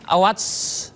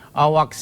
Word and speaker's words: AWACS: Pesawat mata-mata E3 AWACS, benar Prof bacanya, AWACS ya, E7.